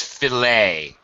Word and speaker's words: filet: first of all it's filet it's a French word with the ET ending we do not pronounce